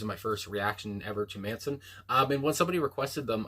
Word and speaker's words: Mansun: I guess Manson is how it would be pronounced, but there's a U instead of an O.